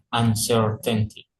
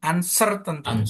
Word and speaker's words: uncertainty: Nah, ini berarti bacanya gimana, Pak? Yang ini uncertainty tuh kan uncertainty. Jadi sernya yang itu kan bukan uncerta gitu kan ya enggak ada ya gitu.